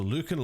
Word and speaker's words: Lucan: the entire thing against Lucan Lions Luc Lions I ja is told me that's the pronunciation so Luke and lions a team that I